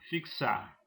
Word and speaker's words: fixar: Ah, tem como observação a letra X, ela pode representar o encontro consonotal de K S, como os exemplos fixar se se escreve com X, mas na pronúncia tem um encontro de duas consoantes.